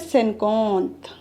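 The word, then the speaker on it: cinquante: जिसे हम कहते हैं सेनकोंथ। स्पेलिंग जरूर ध्यान दीजिएगा क्योंकि इनकी स्पेलिंग से ही प्रोनाउंसिएशन होता है इनका। जैसे IN होता है ना, इसको हम ओ पढ़ते हैं तो सेनकोंथ हो जाता है, सेनकोंथ हो जाता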